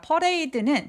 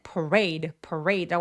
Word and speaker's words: parade: 자, 퍼레이드는 parade라고 하지 퍼레이드 아니에요. On parade day. parade 할 때 드와 day 할 때 d가 같은 소리를 한 번만 발음해서 parade. 레처럼 R로 시작하는 소리들은 입술 내밀고 레라고 해주세요. 퍼레 아니에요. parade라고 합니다.